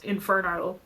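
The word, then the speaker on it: Inferneaux: So I kind of stepped away from doing dance as much, but our entertainment company or still is Inferno, spelled with an EAUX.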